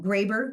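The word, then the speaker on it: Grabher: h e r um Graber you might pronounce it it's an Austrian name or grabber her is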